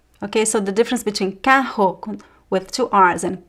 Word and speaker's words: carro: Okay, so the difference between carro with two r's and caro. Okay, they're different words, of course, different pronunciation of the letter r. So here is r. Caro. And here is h. Carro, carro. As I said, there are